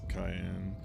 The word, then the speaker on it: Cayenne: not the same person kayen it's it's spelled with a c but yeah it's Cayenne Cayenne yeah the 3D FF